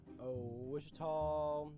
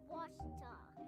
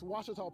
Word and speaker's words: Ouachita: Wichita. Achita. Ouachita. Is it pronounced Ouachita? Searching for Ouachita Baptist University. Back in Texas, everybody pronounces it Wichita, but really, it's Ouachita. Ouachita. Washita.